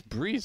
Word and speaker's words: Brehze: You call him Breze? Because it's written out BREHZE, right? Yeah, Breeze. Breeze. It's Breeze. I mean, no way he pronounces it anything different.